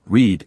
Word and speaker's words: read: For example, you could imagine the past tense read as red ink on a paper to help you remember that read in the past sounds like the color red.